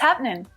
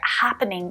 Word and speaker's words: happening: casual hey mate what's happening in spoken english it's really really common to hear happening reduce down to just two syllables but it is especially common in this expression okay now it's still